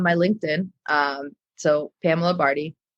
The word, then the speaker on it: Bardhi: Um, so Pamela Barty, P A M A, last name Barty, rhymes with party, but not spelled that way.